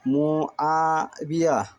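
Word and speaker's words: معاوية: ওয়ার নিচে জেদে বাজের বি, মুআবি, এজবর ইয়া মুআবিয়া, এই হচ্ছে আরবি উচ্চারণ।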